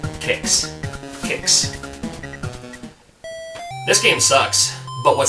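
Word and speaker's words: Qix: how you pronounce it kicks it's not quakes there's no u there and i only know that because they used to have these flyers and at the very bottom it says pronounced kicks kicks this game sucks but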